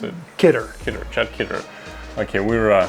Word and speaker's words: Kidder: Is it Kidder or Kidder, how you pronounce it? Kidder.